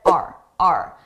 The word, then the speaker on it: our: Notice our. I did not pronounce this as our. I said R. A very reduced sound.